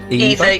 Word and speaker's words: Eva: This is Eva, or Ava, is this how we're pronouncing it? Eva, yeah.